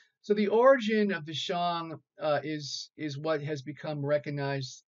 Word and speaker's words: Shang: Okay, it's not pronounced Shang, it's pronounced Shang.